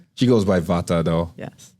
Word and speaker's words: Vata: She goes by Vata, though. Yes. The T pronounced. You gotta enunciate the T. Right. If I say Vata, that's not gonna do it. It's Vata. It's Vata.